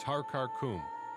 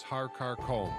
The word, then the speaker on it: Har Karkom: The first mountain is Har Karkum, which some pronounce as Har Karkom.